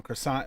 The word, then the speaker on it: croissant: Croissant isn't the right way. How do you say it, Dave? Croissant, croissant. Croissant. Croissant. Like a Q. Croissant. Croissant. And then you barely pronounce the T at the end.